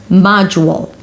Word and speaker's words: module: And then it's the u as a YUW. MAA-juwl and then a dark L, you can have a little W there before. Module. Model - module, not the same.